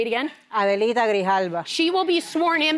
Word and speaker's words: Grijalva: Grijalva. And yes, thank you. I don't say her name right. Say it again. Adelita Grijalva.